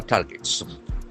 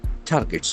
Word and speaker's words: target: Battered Iran attacks oil infra targets. Targets, T-A-R-G-E-T. The pronunciation is very important. There are two syllables. Target. Target.